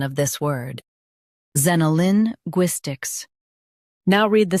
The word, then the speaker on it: xenolinguistics: Both US and UK have the same pronunciation of this word, XENOLINGUISTICS. Now read the syllables shown on the screen naturally. Zen. Oh, Lin. Gwis, ticks. XENOLINGUISTICS. Stress GWIS and keep Zen soft.